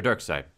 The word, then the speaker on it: Darkseid: had a you know pronounced he a correct pronunciation for it but now I know so Darkseid anyways a light ray informed Scott that he's